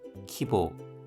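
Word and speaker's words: 規模: 사이다이 키보 보가 발음이 짧은 발음입니다.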